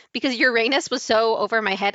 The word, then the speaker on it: Uranus: name Uranus funny, but when the teachers properly pronounced it as Uranus, I found that funny because, like, Urine's pee. Because Uranus was so over my head, I guess.